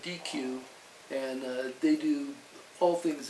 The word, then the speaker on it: Deque: And now you're with DQ, and DQ is spelled DEQUE, but I joke with my family that I'm really just a manager at Dairy Queen.